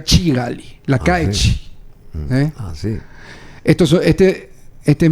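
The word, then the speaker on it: Kigali: casamiento típico en Ruanda en la capital de Ruanda se pronuncia chigali la calle esto Este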